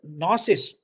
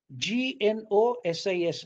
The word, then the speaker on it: gnosis: phonetically though it is the g is not pronounced it is retained in spelling because this g is